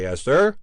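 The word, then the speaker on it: Esther: you'll have your say eser said the husband using the provential pronunciation of America for the name and regarding his noisy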